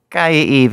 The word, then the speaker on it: Kaiia Eve: it hey hey hey K Eve how you doing Fab how are you doing great I said your name right right you said it right this is the first